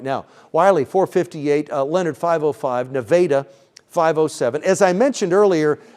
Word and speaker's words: Nevada: Wiley 4:58, Leonard 5:05, Nevada 5:07. As I mentioned earlier, it's Italy, Texas, not Italy. It's Italy, Texas, and it's not Nevada, Texas. It's Nevada, Texas. So there we go. Some interesting pronunciations in the great state we live in.